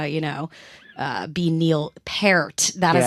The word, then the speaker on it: Peart: to look it up it's parrot um not Peart that's like one thing I make sure I don't mess up is Neil parrot because everybody nobody knows how to say his name um okay so Raj